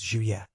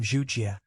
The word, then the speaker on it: Juye: Hey, his name isn't Hey. His name is Juye. I got it wrong at first too. I called him Zhujie, and Qin Hui corrected me.